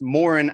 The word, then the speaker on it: Moran: It's Moran actually.